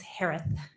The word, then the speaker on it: Herath: name s-a-n-d-e-r-s-o-n last name is pronounced like Harris with a lisp it's herath h-e that's such a